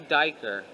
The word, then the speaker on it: duiker: This is the blue duiker, which its mini deer's name rhymes with hiker.